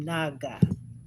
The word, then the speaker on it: Naga: I'm Naga. That's the correct way to say it.